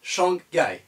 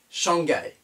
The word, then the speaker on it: Shanghai: shanghai shanghai et le nom de chiang rai 1 en français shanghai on le dira shanghai donc cette ville de lachine est prononcée en français shanghai de la même manière